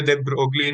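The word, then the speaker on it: de Broglie: ठीक है, तो इसी क्वेश्चन को विक्टर दे ब्रोगली ने ब्रो विक्टर दे ब्रो प्रोनाउंस्ड है, ठीक है, put forward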